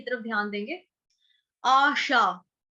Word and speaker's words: आशा: आशा, आशा शब्द जो है बहुत आसान है, लड़कियों का नाम भी होता है आशा। अ अनार वाला नहीं है, आम वाला है, क्योंकि अ के साथ आ की मात्रा लगी है।